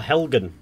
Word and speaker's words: Helgen: Or Helgen, as it's pronounced.